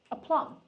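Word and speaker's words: aplomb: let's talk about it is that how you pronounce it a plum let me see just to make sure we are doing the right pronunciation of words pronunciation a plum yeah MH now um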